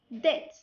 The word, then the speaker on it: debt: Rule number 2: when B comes before the letter T, B is silent. بمعنى ملي كيجي حرف التي وقبل منه B هنايا كتكون silent. An example: debt, doubt, settle.